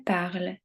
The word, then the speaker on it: parles: Je parle, tu parles, il, elle, on parle, nous parlons, vous parlez, il, elle parle. Attention, très important, les terminaisons E, ES et ENT ne se prononcent pas.